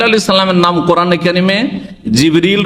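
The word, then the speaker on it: جبريل: আর তিনি রূহ, তাহলে জিবরাইল আলাইহিস সালামের নাম কোরআনে কারিমে জিবরিল রয়েছে, যেটা অন্য উচ্চারণে জিবরাইল, অন্য কেরাতে জিবরাইলও, জিবরিল, জিবরাইল আর রূহ।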